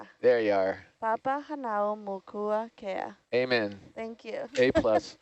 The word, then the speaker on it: Papahānaumokuākea: Take it bit by bit. Let's Okay. Papa. Papahānaumokuākea. Hanau. And now, Hanau. Okay, Papahānaumokuākea. Moku. Mokua. There you are. Papahānaumokuākea.